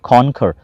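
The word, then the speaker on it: conquer: करेज, कॉन्कर, इसको मैंने पढ़ा था, ये लफ्ज़ है कॉन्कर, इसका सही प्रोनाउंसिएशन बन गया कॉन्कर, फतह याब होना, फतह करना।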